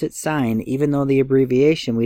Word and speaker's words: sine: letters but it's pronounced sign and we abbreviate it s I n even though it's spelled sin and the abbreviation would still say sine the ratio of the